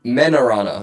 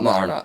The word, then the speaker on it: Menarana: I believe it is Marona. Yeah, no, Menarana. Menarana. Not Marona. That's a source.